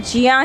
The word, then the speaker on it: ज्ञ: उसके बाद में ज्ञा जिसको वास्तव में उच्चारण जिसका चा और इया से बनता है, जिया, जिसको वास्तविक उच्चारण जिया ही होता है, लेकिन हम लोग उसको ज्ञा पढ़ते हैं, ठीक है।